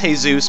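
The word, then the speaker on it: Jesús: the top 10 yes I know it's pronounced hey Zeus but that's no fun let's call them Jesus okay I'm gonna go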